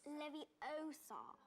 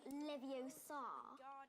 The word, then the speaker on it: Leviosa: Besides, you're saying it wrong. It's Levos. Not Levios. You do it then if you're so clever. Go on. Go on. Leviosa.